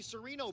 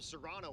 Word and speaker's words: Sereno: found me and said you you say my name is Sereno okay sorry calling him Sereno all week long and we were calling him Serano last night oops that brings up